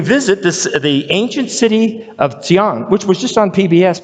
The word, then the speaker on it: Xi'an: Okay, X''ing, which is pronounced Xi'an, which is where the Mao Revolution began, but which is where the end of the Silk Road is.